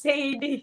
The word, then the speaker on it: Saydie: So we wanted it to be two syllables. So when the crowd says SAYDIE, SAYDIE, like, yeah, that's it.